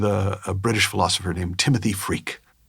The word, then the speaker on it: Freke: And one was with a British philosopher named Timothy Freke, which is spelled Freke, but when you hear what he talks about, you'll just think, what a perfect name.